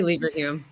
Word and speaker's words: Leverhulme: deputy director of Oxford Leverhulme, how do you pronounce that? Yeah, I say Leverhulme. Leverhulme, okay.